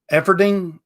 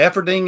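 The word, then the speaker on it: Eferding: what now where upper austria effing dean e-f-e-f-e-r-d-i-n-g efforting is that the way it's pronounced is that good enough upper austria-efferding okay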